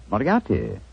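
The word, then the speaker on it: Moriarty: Miati. Moriati.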